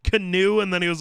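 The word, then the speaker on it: Keanu: When he said his name was pronounced Canoe, and then he was like, yeah, that's really stupid.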